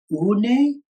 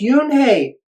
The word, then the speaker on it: Unhei: "Une?" the girl asked, scrunching up her face. Une," some kids chanted. No, Yoon-hae corrected. "It's spelled Unhei. It's pronounced Yoon-hae."